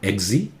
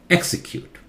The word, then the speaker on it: execute: execute execute okay XC louder not eggsy execute this one cue louder